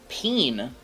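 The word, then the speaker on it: Pean: Peen. Peen? Thank you for the follow. Peen? P-E-A-N. P-E-A-N, like bean, but peen.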